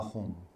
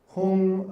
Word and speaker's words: Hum: And while we do it, we're going to say the syllables Om Ah Hum. And Hum. Hum or H-U-N-G or H-U-M.